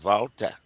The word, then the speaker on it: Walter: So Walter guys in German is pronounced Valta.